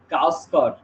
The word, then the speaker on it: গাওস্কর: ব্যক্তির নাম গাভাস্কারের নাম গাভাস্কার আগে লেখা হতো, এখন আর গাভাস্কার লেখা হবে না, এখন লেখা হবে গাওস্কর। কারণ গাভাস্কার বলেন না my name is Sunil Gavaskar, উনি বলেন my name is Sunil গাওস্কর।